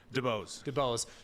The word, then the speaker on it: DuBose: DeBose.